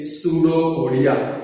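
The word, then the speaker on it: pseudopodia: सूडोपोडिया। आगे पी लगा है तो सूडोपोडिया मत बोलना। क्या बोलते हैं भाई? पी साइलेंट है। कैसा है भाई? साइलेंट। उसको क्या बोलते हैं भाई? सूडोपोडिया।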